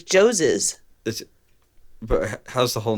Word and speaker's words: Joses: It's just like Moses, but it's Joseph's.